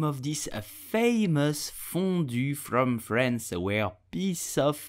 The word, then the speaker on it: fondue: you will say burginian the e at the end of fondue is totally silent so do not pronounce it I hope you enjoyed